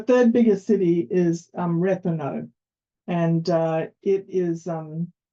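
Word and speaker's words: Rethymno: h y m n o and that is pronounced um so the third biggest city is um reano and uh it is um it's also a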